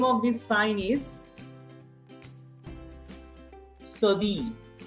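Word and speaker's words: cédille: This is called the name of this sign is Sodi. Double L is silent.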